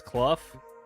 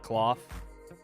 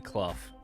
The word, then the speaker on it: Clough: Or at least that's how I've heard it pronounced before. Maybe I'm wrong. Maybe Graham or JB can Clough. It's Clough, not cloth. Like you. Brian Clough.